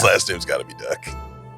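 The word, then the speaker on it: Duque: His last name's got to be Duck. Spelled D-A-H-N. But he prefers Don. Well, no, it's D-O-N, but D-U-Q-U-E. Just pronounced Duck.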